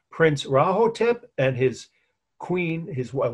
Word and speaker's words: Rahotep: and his wife, Prince Rahotep. Don't ask me to spell it. It's like it sounds, with an R. Prince Rahotep and his queen, his wife, well, then she was princess, and Princess Nofret.